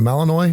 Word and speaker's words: Malinois: By all accounts, the Belgian, is it Malinois? Is that how you say it? Malinois. Malinois. The Belgian Malinois.